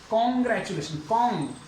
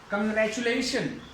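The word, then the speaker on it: congratulation: जैसे यहां पे शब्द लिखते हैं कॉन्ग्रेचुलेशन, कॉ नहीं है, वो कॉ नहीं है। देखिए कंग, ने और गे की आवाज आ गई ना, कंग, आर के बाद ए आ रहा है, तो कहने मतलब आर आएगा। कंग्रेचुलेशन, तो ये हमारा कंग्रेचुलेशन।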